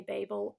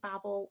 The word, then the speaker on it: Babel: But this is, I always want to say Babel. I know that she says to pronounce it Babel, so I just, in my little brain.